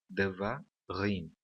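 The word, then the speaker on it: דְּבָרִים: Existem 3 sílabas nessa palavra e a última sílaba é a sílaba tônica, rim, tá bom? Devarim.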